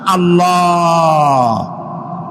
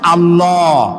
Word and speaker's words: আল্লাহ: কি গুণ বলেন কি গুণাবলীতে বিশ্বাস আল্লাহর নাম আল্লাহ বলেন তো আল্লাহ নয় কিন্তু আল্লাহ হচ্ছে অশুদ্ধ শুদ্ধ হচ্ছে আল্লাহ বলার সময় মুখটা গোল হয়ে যাবে বলেন তো